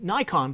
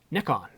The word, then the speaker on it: Nikon: well it depends uh in north america we do say nikon but in england we say nikon and i am british